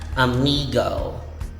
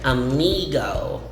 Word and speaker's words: amigo: amigo amigo amiga uh but this one is pronounced amigo the eye in the middle of the word is e and the o as the last letter is o so you say amigo amigo again still has the spanish origin a